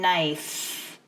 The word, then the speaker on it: knife: right here you notice you do not pronounce the K the K is silent it is sleeping so pronunciation nice nice this is spelling